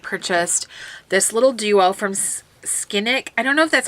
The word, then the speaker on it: Scinic: So a while back on HauteLook, I had purchased this little duo from Scinic. I don't know if that's how you pronounce Scinic.